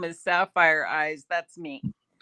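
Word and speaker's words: Safyr: It's It'll probably be Sapphire Eyes. I use that in all my gaming. It's But it's spelled phonetically. S A F Y R and then eyes.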